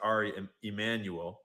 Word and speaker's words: Emanuel: chairman, but I guess his name is probably pronounced Ari Emmanuel because it's Jewish, not Mexican.